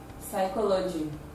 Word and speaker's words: psychology: is voiceless it does not reflect in the pronunciation words like sum as in p s a l n pneumonia empty psychology diaphragm photo besides school physics philosophy you discover